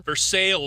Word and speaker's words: Versailles: Poultry Days is the tournament in Versailles, Ohio. For sales. Probably should pronounce it Versailles. because but, it's for sale. Versailles. but they- We're from West Virginia, so it's for sales.